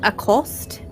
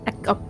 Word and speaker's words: Akath: Did you say his name was Acost? Akath.